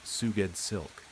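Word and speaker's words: Sgouedslk: S G O U E D S L K pronounced Suged Silk.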